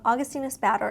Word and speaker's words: Augustinus Bader: brand augustinis batter and for the longest time i was not pronouncing that correctly but i think i got it augustine is batter it's quite an expensive